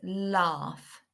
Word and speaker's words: laugh: This word's a really tricky word because none of the sounds except the first one are making the right sound. So the first one is a and then the A and the U are making an R sound, R, and then the